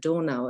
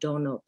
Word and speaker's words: Donau: And so in Germany, we would pronounce it Donau and not Donau.